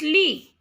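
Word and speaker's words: lit: is book Ed so T is not pronounced here it's Lee bad this is JIS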